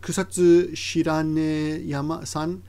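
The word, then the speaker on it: 草津白根山: Mata, in addition to that, Kusatsu Shiranesan, I said yama, but this is a proper noun, so the pronunciation will differ depending, even Japanese won't know until you tell them, right?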